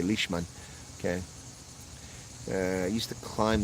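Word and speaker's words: Lichtman: is Alan lickman uh I would not pronounce lickman I would actually say lishman okay uh used to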